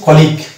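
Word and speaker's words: colleague: তো এখানে ফর্মুলা অনুসারে আমরা পেয়ে যাচ্ছি জি, ইউ এর আগে আছে জি এবং পরে ই, ওই জন্য ইউ এখানে সাইলেন্ট এবং ইউ এর এখানে কোনো উচ্চারণ আসলো না। এই যেমন এই শব্দটার উচ্চারণ হয়ে গেছে কলিগ।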